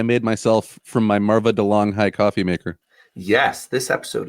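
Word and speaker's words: De'Longhi: myself from my Marva DeLong High coffee maker. Yes, this episode is brought to you by DeLong High. I think they pronounce it DeLonghi, which is so ridiculous.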